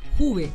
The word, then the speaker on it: Juve: Juve. Así se pronuncia el apellido. Pero me dicen de distinta manera. Juve.